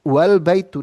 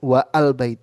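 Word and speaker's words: وَالْبَيْتُ: the a is drawed and the press is pronounced wal baitu not wa al bait itu ya dibacanya langsung wal baitu bukan wa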